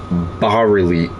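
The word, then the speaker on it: bas-relief: So, you know, the shroud of turin and other shrouds were bar reli. It's pronounced I'm sorry, it's spelled bas reliefs.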